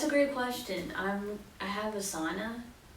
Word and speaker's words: Asana: I have Asana. It's like are you guys familiar with Asana? It feels like an Asana commercial now. Do you know Asana?